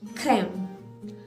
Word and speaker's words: crème: So when it is put to the vowel E, it gives us the sound of A, widely open mouth. In first one it was A, in this it is A, widely open, A. So for instance, in the word like crème, C-R-E, accent grave, M-E, crème.